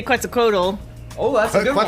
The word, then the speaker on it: Quetzalcoatl: Oh, I was gonna say Quetzalcoatl. Oh, that's a good one. Quetzalcoatl? Quetzalcoatl. Is that a Final Fantasy Coca-Cola. It's pronounced Quetzalcoatl.